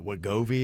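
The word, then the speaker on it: Wegovy: like the ozempic and is it what Govi is that how you say it yeah there's like some of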